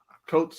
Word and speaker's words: Coates: Captain America by I can't pronounce his name. Coates.